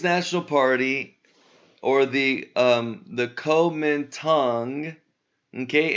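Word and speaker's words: Guomindang: Party or the the comb and tong okay and Chinese is pronounced the Godman dong the Galman dong I I don't really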